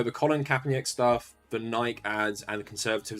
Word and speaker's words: Nike: conservatives like burning their Nike shoes. And I know you Americans call it Nike and that's the proper pronunciation, but in the UK nearly everyone calls it Nike.